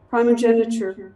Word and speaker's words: primogeniture: Primogeniture.